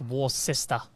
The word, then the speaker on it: Worcester: Yeah, like Worcester.